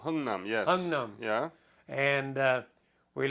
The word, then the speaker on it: Hungnam: We loaded on ship on December the 12th of Hamnung. Mm-hmm. I believe I'm pronouncing it right. Hungnam, yes.